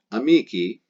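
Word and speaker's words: amici: amicus that's the nominative amiki ending the letter i so because it ends in the letter i pronounce e we know it's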